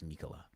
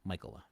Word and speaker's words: Michaela: I feel like it's Mikola, but it's Michael. Michaela. Really?